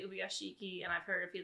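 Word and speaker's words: Ubuyashiki: And we obviously know that that's because, I think we've been saying this wrong the entire time. Ubayashiki, apparently. Ubayashiki. I've heard it pronounced 2 different ways, and that's like part of the like whole dropping a vowel in the middle of a name. I've heard some of the characters say Ubiyashiki, and I've heard a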